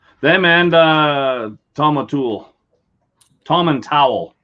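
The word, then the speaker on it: Tomintoul: and uh tom atul tom and towel is how you pronounce it there's a lot of indie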